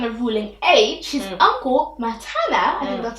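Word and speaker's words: Mattaniah: ruling age, his uncle Matana, I think that's how you pronounce his name, started ruling. But the Babylonians changed another person's name to Zedekiah. Changed Mataniah. Oh, Mataniah. Sorry, it's not Matan. Mataniah to Zedekiah.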